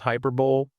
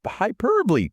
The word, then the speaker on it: hyperbole: It looks like it should be pronounced hyperbol, but it's not. I'll say it and I want the listener to repeat it after me. Ready? Hyper. Hyperbole.